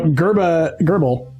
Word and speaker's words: Grrbbl: So Gerbil, his name is Gerbil, but you keep calling him Gerber. That's fine. Gerbil. Gerbil. Okay, I wrote it as... It is spelled Grrbbl. That's Gerbil. That's like one of those I wrote it apps. as That's like- how the app would spell itself. I wrote it as like the Gerber baby, yeah, yeah. and Yeah, then I yeah, realized that's not correct either. Gerbil.